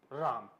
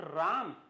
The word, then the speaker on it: ram: Next is राम. Should I pronounce it राम? नो. पहले तो ये बताओ ये राम है या क्या है? ये राम नहीं, इसका प्रोनाउंसिएशन है रैम.